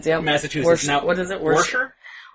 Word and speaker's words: Worcester: Worcester? Worcester? Worcester. But they pronounce it weird.